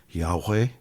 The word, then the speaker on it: Yahweh: y a H wh some Scholars say it could be pronounced Yahweh we did something the